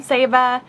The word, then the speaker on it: Saba: All right, so we are back from Saba, and we pronounced it wrong the whole time, by the way. It's Saba, not Saba.